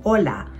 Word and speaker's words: hola: Isang paalala lang, hindi pino-pronounce ang letter H agag ito ang first letter sa isang salita tulad ng hola. So hindi ito hola. Sinasabi ito na hola.